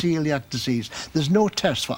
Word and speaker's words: coeliac: those people like me who struggled with spelling Celiac you see how they spelled it for me